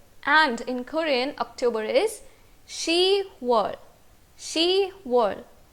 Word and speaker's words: 시월: Now you will see that 10 is 십, but again because of the same reason that we removed kyok from yuk while learning how to say June in Korean language, the same reason is applied over here also. Because it is difficult to pronounce 십월, pyup is removed from ship and we are left with she.